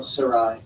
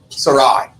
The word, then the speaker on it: Sarai: It says, "Then Elohim said to Abraham, as for your wife Sarai, how do we pronounce this?" Oh, Sarai. Sarai.